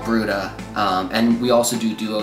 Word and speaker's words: Bruda: But we do a large group now called Bruda, and we also do duo style stuff.